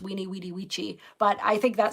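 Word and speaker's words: Veni, vidi, vici: kind of hard to see, but it says Weenie Vidi Vici, which also is actually pronounced Weenie Weedy Vici, but I think that sounds weird, so I always mispronounce it.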